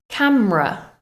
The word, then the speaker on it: camera: Camera, camera. That final syllable is a schwa, camera.